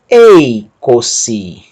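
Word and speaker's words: εἴκοσι: Y iota ei, a aspiração branda não altera a pronúncia do ditongo, continua ei, e o acento agudo indica que a sílaba tônica é o próprio ditongo, ei. Sílaba seguinte, capa ômicron, co, e a última sigma iota, si.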